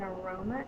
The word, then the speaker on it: aroma: The next sound in aroma is R, O, It is not spelled with a U, it's spelled with an A because it's the schwa. So aroma has two schwas.